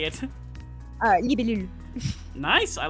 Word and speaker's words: libellule: Libellule.